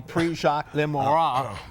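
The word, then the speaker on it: Prix Jacques Le Marois: At the Prix Jacques Lemois. That's my French pronunciation at Deauville, right?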